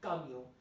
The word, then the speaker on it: camion: Le camion, C-A-M-I-O-N, camion. Again, N not to be pronounced.